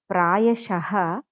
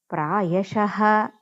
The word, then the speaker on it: प्रायशः: So if ksha before visargam is there, means that visargam we have to pronounce complete ha. So fourth padam prayashah kshema karmanam is there. So ksha kshe, so kshe before visargam is there, so we have to say complete ha.